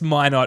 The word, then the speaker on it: Minott: I think it's May not as well. They have the like um the pronunciation uh on basketball reference as well and there's an emphasis on the my- not.